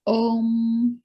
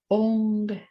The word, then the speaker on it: Om: is know in typically people will say om like o m uh the how you actually pronounce that is ong o ng so it's ong so it's a it's